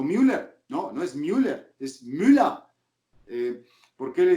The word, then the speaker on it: Müller: De por qué pronuncias Neuer cuando es Neuer, ¿no? Manuel Neuer. ¿Por qué dices Neuer. si es Müller, ¿no? Thomas Müller, ¿no? O Müller, no, no es Müller, es Müller.